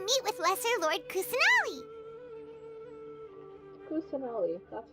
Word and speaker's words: Kusanali: Kusanali, that's how you pronounce And it.